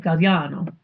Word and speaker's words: Gagliano: So the gli is one syllable in Italian, right? Galliano.